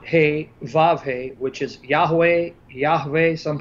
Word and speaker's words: Yahweh: That in Hebrew represents a consonantal name of God, Yod He Vav He, which is Yahweh, some pronounce it Yehovah, Jehovah.